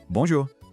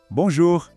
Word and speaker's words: bonjour: Pensa assim, você vai falar bom, mas não feche a boca no final. Deixa o som sair pelo nariz.